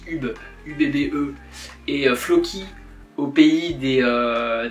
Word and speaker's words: Ubbe: là UB UB je sais comment ça se prononce UB ubbe et Floy au pays des des Indiens les